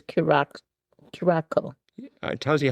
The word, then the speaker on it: Curaçao: It's Curaçao. It tells you how much I drink it. Well, I can't even pronounce it.